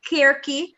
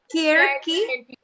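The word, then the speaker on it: Circe: Oh, just to let you guys know, it's Kirky, my Greek friend confirmed. Oh, yes. Kirky. Scribed. Because there's no soft C in the Greek alphabet.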